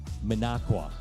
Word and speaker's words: Minocqua: It is actually Minocqua.